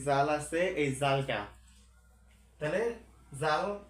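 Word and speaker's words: ذال: তাহলে জাল, জালের উচ্চারণ কিরকম করে? সেম একই রকম করে জাল, জিহ্বাটা একটু বের করে দিয়ে উপরের মাঝের অংশ বা ঠোঁটের উপরেরটা উপরে উঠে দিবেন। তাহলে জাল, জাল, জাল।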